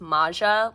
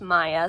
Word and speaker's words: Maja: I thought it was Maja like if you've seen Adventure Time there's a character named Masha but in Angelica's video she said in Swedish it's pronounced Maya so that's what we're